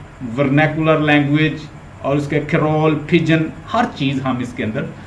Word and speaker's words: pidgin: सो पिजन, ये D silent है।